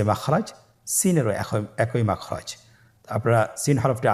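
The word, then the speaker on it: سين: বাকি 2টি হরফ নাম হলো সিন এবং শিন। সিন এবং শিন। সিন হরফটি উচ্চারণ ক্ষেত্রে অবশ্যই 3 আলিফ টেনে পড়তে হবে। সিন হরফটি বারিক হরফ, পাতলা করে উচ্চারণ করতে হবে।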